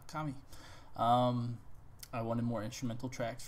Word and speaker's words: Kami: I know I've been saying it wrong this whole time. I've been saying Kami, and I apologize. And some of you were nitpicking, so I learned to say it the proper way, Kami.